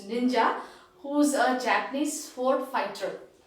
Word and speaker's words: ninja: same name isn't it so the same pronunciation even in japanese which is ninja who's a japanese ford